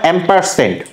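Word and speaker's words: ampersand: actual এটাকে বলা হয় এম পার্সেন্ট সো তোমরা যদি নরমালি উচ্চারণ করতে না পারো বলবা এন্ড চিহ্ন আর এটার একচুয়ালি উচ্চারণ হচ্ছে এম পার্সেন্ট ওকে গেল সেমিকলন দিয়ে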